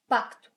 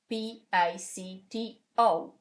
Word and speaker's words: pacto: Pacto, P-A-C-T-O. So, pacto. As you can see, you pronounce that C. It's not a mute. It's not mute, you pronounce it. It's pacto, and you say it.